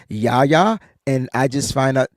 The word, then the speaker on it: Yahya: It's spelled YAHYA, but it's pronounced YA.